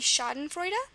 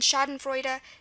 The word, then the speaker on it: Schadenfreude: Again, there's many examples with EU for the oi sound in German. It's the German way to spell that sound, and that's one of those sounds that make German unique.